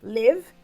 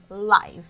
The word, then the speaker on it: live: Então, existem essas duas versões, né, da pronúncia dessa palavra, live e live. Depende do contexto, né? Depende do sentido dela, tá bom?